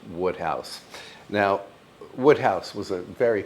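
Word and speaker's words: Wodehouse: It looks like Woodhouse, but I think it's pronounced Woodhouse.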